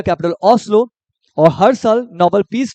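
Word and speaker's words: Oslo: Norway Norway का capital ये एस्लो नहीं होगा ओस्लो यहां पे ओस्लो लिख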